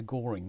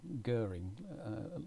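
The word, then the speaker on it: Göring: some people say the Goering gambit but it's Goering remark it rhymes with stirring and not boring Goering gambit d5 and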